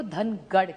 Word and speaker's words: धनगर: Ek to Dhangar Samaj ki badi maang hai ki unko tribe mein Dhangar, Maharashtra, Marathi mein Dhangar kehte, North mein usi ko Dhangad kehte. So it is only a pronunciation thing.